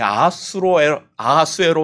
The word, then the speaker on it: 아하수에로: 도대체 이 아하수에로 왕이 누구야라고 할 텐데, 아하수에로라는 이 이름은 히브리 발음입니다.